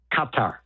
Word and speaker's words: Qatar: Katar is how they would pronounce it on the ground here.